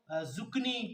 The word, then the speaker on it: zucchini: इसको जुकनी कोई क्या पढ़ता है बेसिकली? अगर ये ऑप्शन आ जाए कि ये इसकी प्रोनाउंसिएशन ये है, ये है या ये है, तो ये पहले वाला जुकीनी है।